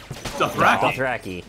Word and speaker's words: Dothraki: What do you say? Dothraki. Dothraki. That's how they say it in the show.